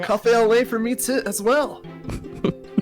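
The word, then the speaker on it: café au lait: It's just French. That's all. You don't pronounce the T.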